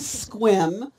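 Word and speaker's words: Sequim: she knew how to to say the name of your town which is squim which is spelled SE qu i m for those of you who are not familiar with this area it's squim Washington and uh tell us about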